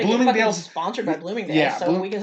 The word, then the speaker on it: Bloomingdale's: Rhymes with looming tales. Bloomingdale's? It's Bloomingdale's.